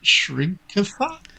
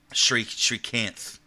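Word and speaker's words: Srikanth: So tonight they've got a special screening of, is it Shrinkatha? Shrikanth is what I would say.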